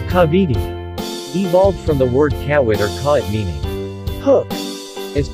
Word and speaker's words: Kawit: It was mispronounced by the Spaniards as kawit or Kavidi, there being no K in the Castilian alphabet, then changing W to V so as to conform to their accentuation.